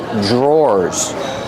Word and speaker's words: drawer: These are called drawers. The pronunciation is not like the spelling. Pronunciation DR makes a J sound. J plus the R together. J drawers or like door and floor.